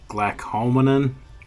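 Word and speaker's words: glucomannan: Is pronounced different ways, but I think the proper pronunciation of it is glycomannan.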